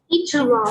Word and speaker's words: introvert: Introvert. Introvert. Introvert. Very good. Yes. Introvert. And the stress is on which syllable in introvert? In. Syllable. In. Yes, introvert.